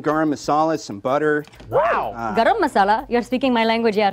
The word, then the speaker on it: garam masala: Garam masala? You're speaking my language here. Yes. And I thought it's such a great spice for things like that. I believe it's pronounced gram masala. Indian. It's garam masala.